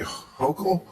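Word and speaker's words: Hochul: Uh, what do you New Yorkers think of how Mayor Eric Adams and Governor Kathy Hokll Yes. Yes, you pronounced it right.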